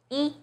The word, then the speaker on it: 一: When 不 is followed by a non-fourth tone, which are the first, second, and third tones, it's pronounced as the fourth tone, as in 不知道, 不行, 不好. When 一 is used as a number, it's the first flat tone, as in 一二三四, 第一, 一号线.